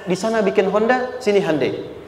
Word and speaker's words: Hyundai: Sehingga ketika di sana bikin Honda, sini Hyundai. Hyundai kan dibacanya Hyundai.